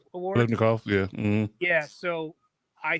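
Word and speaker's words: Biletnikoff: He drafted him when he played at Pitt when he won the, how do you say that, Blitnikoff Award? Blitnikoff, yeah.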